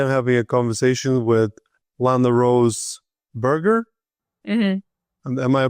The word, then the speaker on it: LanaRose Berger: Today I'm having a conversation with Landa Rose Burger. Mhm. Am I pronouncing it correctly?